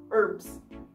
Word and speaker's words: herbs: so what is the where is the h no h we eat the h then why did you write down h i don't know say haps herbs stupid british says pips yes yes so we kind of act like there is no h yeah like we swallow the h again in english but